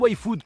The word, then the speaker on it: YFood: Et ça se prononce YFood comme pour la génération Y.